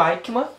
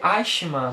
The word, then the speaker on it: Eichmann: No vídeo que eu fiz esse livro aqui, galera, eu falei o nome errado, eu falei Eichmann, mas não é Eichmann, é Eichmann. Depois que eu fui descobrir a pronúncia certa.